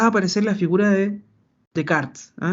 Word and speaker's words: Descartes: porque acá va a aparecer la figura de Descartes, o Descartes, como se pronuncia directamente.